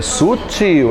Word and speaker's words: sutil: É sutil, ela é oxítona.